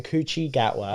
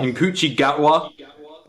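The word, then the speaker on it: Ncuti Gatwa: fact he's not in this fell is in coochi gatwa inochi gatwa thank you that's apparently how you pronounce it and he is the new star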